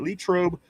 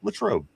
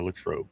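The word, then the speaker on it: Latrobe: Vegas says do you pronounce it Lrobe? Lrobe Lrobe. Uh it's Latro. Uh Latroe St. Vincent College in Latroe. Uh L. I would go with that.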